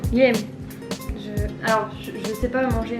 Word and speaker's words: Guilhem: Ça se prononce Guilhem. Guilhem.